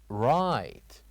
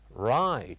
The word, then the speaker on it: right: Right. Repeat after me. Right. Right. So, what do you think the silent letter is or letters in this word? Very good. The silent letters here are G and H.